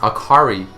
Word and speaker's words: Akali: other games and animes akali is pronounced akari in Japanese meaning light bright cheerful